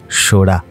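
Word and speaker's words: Sohra: বহু বছর আগে যখন ব্রিটিশরা এখানে আসেন তারা সোরা নামটিকে সঠিকভাবে উচ্চারণ করতে পারেন না। তারা সোরাকে করে দেন চেরা।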